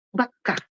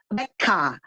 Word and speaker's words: Bakkah: bagi manusia itu adalah Bakkah. Kalau dalam bahasa Inggris di Bible, saya ingat waktu membacanya, waktu menamatkan Bible, B-A-C-C-A, Bakkah. Kalau orang Barat membacanya Bakkah.